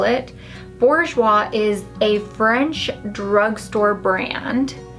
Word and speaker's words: Bourjois: Now I'm gonna use the I still call it Bourjois. That's what everybody, like all the Americans and the British back in the day, called it Bourjois. I think it's actually pronounced Bourjois. It's a French brand, but it is the best.